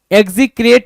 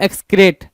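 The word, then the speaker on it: execrate: Despise, detest, लोएथ, एबोमिनेट और एग्जीक्रेट या एक्सक्रेट। एग्जीक्रेट कुछ लोग पढ़ेंगे, कुछ लोग एक्सक्रेट बोलेंगे, दोनों सही है।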